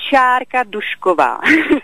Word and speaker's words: Šárka Dušková: Bien, oui, parce que alors donc c'est, je sais pas le prononcer, Sarka Duskova. C'est certainement. Alors je vous le dis en tchèque on dit Šárka Dušková.